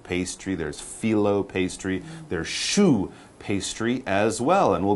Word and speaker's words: choux: exactly what this show shoe like your shoe yeah all right basically